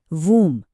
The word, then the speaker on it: womb: और WOMB को कहते हैं वूम।